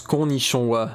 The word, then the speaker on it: Konnichiwa: Ça se prononce Konnichiwa.